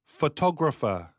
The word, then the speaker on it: photographer: ช่าง ภาพ เนี่ย เรา ใช้ คำ ว่า อะไร photographer ฟัง ดี ๆ นะ อีก ครั้ง นะ photographer